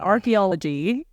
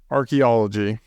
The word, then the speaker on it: archaeology: You keep adding a random syllable to that. Archaeology. Archaeology.